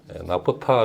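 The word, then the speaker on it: naphtha: 마프 타라 그러기도 하고 올랜드 영어 발음을 하면 납사 되는데 나프타 를 이제 석유화학 원료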